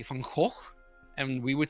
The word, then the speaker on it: Van Gogh: You can say it's like this almost dark, depressed goth, like Van Gogh character, where he's, or it's this super But that's not how you say it, though. Van Gogh.